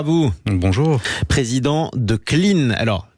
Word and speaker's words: Clhynn: vous bonjour président de Clean alors clean ça sonne tout net s ça s'écrit cl LH y 2N y et h pour hydrogène on va y revenir